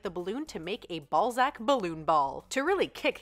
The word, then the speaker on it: Balzac: can smack it and you can whack it ball sack ball sack is the newest fun what it's actually pronounced Balzac yeah say one of the better toys to